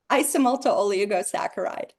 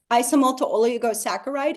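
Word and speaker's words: isomalto-oligosaccharide: Isomalto oligosaccharide.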